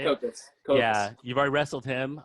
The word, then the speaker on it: Copas: Copas.